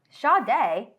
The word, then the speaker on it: Sade: Sade. Sade. That's Sade. Sade. Like the singer, Sade.